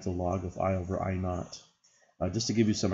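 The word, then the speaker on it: I₀: To measure it with this unit, we first assign an intensity of I naught. I to the 0 power is pronounced I naught to a very faint sound called the threshold sound.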